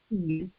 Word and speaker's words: Cian: So, and hopefully people will pronounce it that way because it's not spelled Sean. It's spelled Cian. I hate it. So I'm excited about Cian.